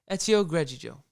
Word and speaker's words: Greggio: Ezio Greggio. Greggio. Oh, Greggio. my God. Ezio Greggio. Funny. Can't pronounce that.